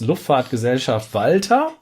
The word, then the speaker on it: Luftfahrtgesellschaft Walter: We say to this Luftfahrtgesellschaft Walter, it in German.